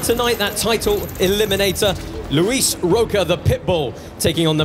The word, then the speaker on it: Roca: More experienced, Luis Roca, taking on the mad Frenchman, Ilies Mardhi. Yeah, you pronounced his name correctly, Roca, so without butchering his name, he asked us to pronounce it with an R.